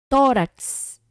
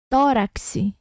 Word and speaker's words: tórax: A gente fala o K e o S ao mesmo tempo.